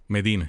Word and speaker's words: Medina: Medina.